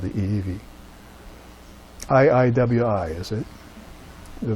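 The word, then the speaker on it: ʻiʻiwi: long beak called the Eevee iiwi is it the V the W gets pronounced to V in Hawaiian so it's this beautiful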